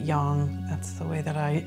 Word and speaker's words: yang: heard yin yang right the chinese pronounce it yang that's the way that